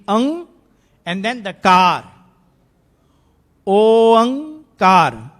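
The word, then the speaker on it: ਓਅੰਕਾਰ: Oankar, not omkar, not unkar, whatever kar, I don't know. Oankar is the only way to pronounce.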